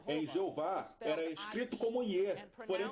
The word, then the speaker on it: Jeová: verá que eles soletravam Jeová, Jesus e etc. com I. Todos eles pronunciavam com J, mas soletravam com I. Então não é porque antigamente tinha I que o som não será de J, percebe?